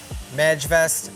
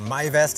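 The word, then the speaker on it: Majvest: the standard white house wrap to this sega mag vest or my vest as it's pronounced 200.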